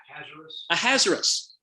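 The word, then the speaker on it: Ahasuerus: your translation may say uh i can never pronounce word how do you say it a hazardous okay so a hazardous was his hebrew name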